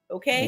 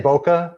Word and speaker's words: bokeh: Bouquet. You said it right. And that's what people want. Okay. I say bokeh, but I'm going to get yelled at by somebody.